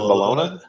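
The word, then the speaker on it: bologna: it you pronounce it balona that's how they pronounce it okay well if it's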